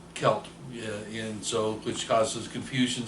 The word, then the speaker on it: celt: It's called a rattleback or a celt, and I prefer to pronounce. Some people will say a celt, um, and I prefer celt, and so which causes confusion sometimes.